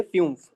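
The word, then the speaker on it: fünf: इसके बाद में जो यू लट होता है वह इयू का साउंड देता है। किसका साउंड देता है? इयू का साउंड देता है। कैसे? एक न्यूमेरिक वैल्यू होती है फ्यूमफ।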